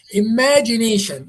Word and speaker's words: imagination: Where where is the stress? In which in which syllable? Maybe the second second. If it was the second it will say imagination. Do you say do you pronounce it imagination or you say imagination? Which is the longest vowel here? Where is the highest one? Imagination. The first part. No, it is that nation.